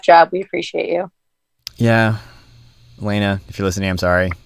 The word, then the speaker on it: Elena: That's the French pronunciation of Elena. Brenda, come on. I learned nothing about Steve. I guess there are just a couple people I know their name, I know how to say it, I've asked 30,000 times already, but I'm just gonna overthink it anyway. I know it's Elena, but I'm old.